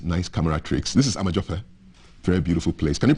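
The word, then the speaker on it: Amedzofe: This is Amajofe, very beautiful place. Can you pronounce Fe? Amajofe? Fe? Fe? No, you have to blow on a candle. Fe? Fe? No, not Pe. Amajofe.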